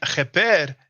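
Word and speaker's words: kheper: Now, many of you know cheper, or many people pronounce it keper because the ch is a sound that doesn't exist in the English or the French language.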